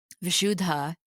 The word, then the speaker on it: Vishuddha: Vishudha chakra to say it correctly because the H is aspirated.